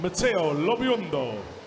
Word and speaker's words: Matteo Lobiondo: Matteo Lobiondo is the correct pronunciation, yes?